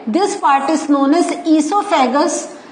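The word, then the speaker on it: oesophagus: part is known as सोफैक सो ये जो है तो हम कहते हैं सोफे गस बट the spelling starts with O okay then हमारा जो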